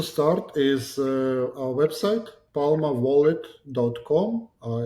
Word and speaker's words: Palma: Uh it's one word palma wallet. Um so Palma is just clarify it's like palm right palm tree. Uh but you know Palma is more like an African pronunciation.